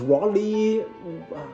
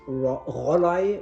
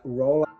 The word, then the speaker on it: Rollei: It's not pronounced Rollei, what I often hear. No, Rollei is totally wrong. It's Rollei, or try to do it like Rollei.